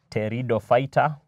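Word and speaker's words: Pteridophyta: is known as division Tero fighter teroy as silent P then we have the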